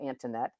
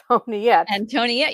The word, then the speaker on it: Antoniette: skimming it real fast, I might call you Antinette. But it's not that. And so you were gracious enough to say, "Here is how I pronounce my name," which is I'm gonna get it wrong now. Antiette. Antonette. You got it.